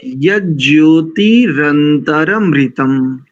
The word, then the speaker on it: यज्ज्योतिरन्तरमृतम्: हाँ, रनंतर नहीं बोलेंगे, रंतर। देखो ना उसमें जी जी एक ही नकार है, रंतरमृतम, मृतम अनुस्वार लगा है ना। हाँ जी तो यज्योतिरंतरमृतम, पकड़ आ गया, पकड़ में आ गया।